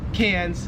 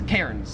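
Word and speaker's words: Cairns: We call Melbourne Melbourne and we call cans Kairens because there's like an R there.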